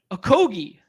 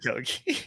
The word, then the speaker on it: Okogie: I'm scared to pronounce his name because I got ridiculed in chat earlier. What? Okogie. Oh, dude, you said Okogie. How do you say it? It's Okogie.